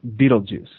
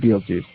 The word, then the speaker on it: Betelgeuse: And it also is conjunct, that is, with the fixed star, I'm going to call it Betelgeuse. It has a more fancy pronunciation, but astrologers call it Betelgeuse. Betelgeuse is awesome.